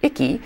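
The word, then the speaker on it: IC CAE: to be reporting right now that that organization pronounced cutely icky is just one of a handful of programs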